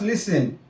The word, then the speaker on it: listen: We have the word listen. It's not listening. There's no T in listen. It's just listen.